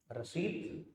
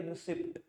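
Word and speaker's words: receipt: हिंदी में बोले तो रिट नल्ले ही हो मैंने कहा रिट हिंदी में बोले तो यहां से आ रिसीप्ट रिसीप्ट तो कोई चीज ही नहीं होती रिटी होती है पी वर्ड साइलेंट यर ठीक है ना हिंदी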